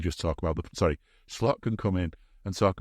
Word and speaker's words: Slot: how his names pronounced people are kind of saying Anna instead of Anie and and schlot instead of slot it's going to be Annie slot isn't it I mean